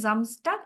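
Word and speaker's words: Samstag: তো যেহেতু আমরা ডে তে জামস্টাক, এটা যেহেতু ওরা এইভাবে উচ্চারণ করে জামস্টাক, এই জন্য আমরা এটা এভাবেই শিখবো, জামস্টাক।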